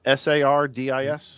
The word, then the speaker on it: Sardis: How do you pronounce this lake? Sardis, S-A-R-D-I-S?